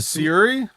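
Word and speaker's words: Syuri: And it Suri, if I pronounce it right. Siri.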